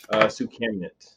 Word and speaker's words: Soukhamneut: friends alright so we are here with sue communit I say that correct you did now usually